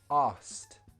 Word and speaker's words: asked: It's how in a sentence, we would remove the k sound. It sounds like this. Asked.